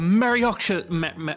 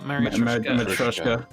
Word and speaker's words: Matryoshka: You and your questions, as if you're trying to open all the layers of Marioshka. How do you say that? Marioshka doll? It's a Marioshka. Matryoshka.